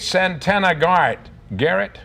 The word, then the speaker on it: Santana Garrett: 1988, Santana Garrett, that's how you pronounce it, yeah.